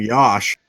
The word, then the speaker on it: Yosh: that is he also goes by the name Yosh okay good to know well he's 23 years old at Virginia Tech a six foot seven offensive tackle weighing 314 pounds okay his first name rhymes with Josh apparently according to the